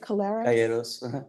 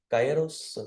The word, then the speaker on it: Calleros: Oh, is it Calleros? See, I'm just adding extra syllables to your name. How do you pronounce it? Cyos. C A L.